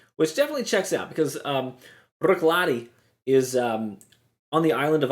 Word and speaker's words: Bruichladdich: So it looks like Bruichladdich. But the actual pronunciation is Bruichladdich.